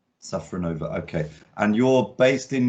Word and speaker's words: Safronova: with names um so and your surname sacranova safranova okay and you're based in new york and